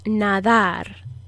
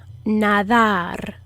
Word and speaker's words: nadar: is nadar nadar this d is the soft d um that is kind of like a th sound in english you put your tongue between your teeth the tip of your tongue between your teeth and you blow a little bit of air out just like you would with a th sound in english it's just a very soft airy kind of d it's not a hard